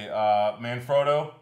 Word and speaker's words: Manfrotto: Manfrotto. That you learned how to pronounce. Yeah, Manfrotto, exactly.